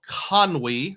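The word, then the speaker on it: Conwy: We drove to the north and there's a town called Conwei. That's how I believe it's pronounced.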